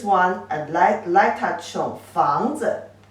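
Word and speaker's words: 房子: can say 房子 this character 子 only give the light touch tone. Don't pronounce it as a third tone like its original pronunciation.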